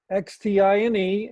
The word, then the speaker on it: Xtine: Xtine, and she's a web artist and a full professor at UT Dallas.